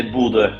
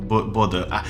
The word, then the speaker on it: Bodø: We say in Norway we say Bodø Glimt. Bodø.